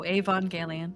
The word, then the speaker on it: Evangelion: Oh, Evangelion.